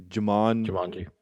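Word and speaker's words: Djimon: pronounce his name but jamon maybe the d is silent like django so it would be would be jamon hanzo i think he's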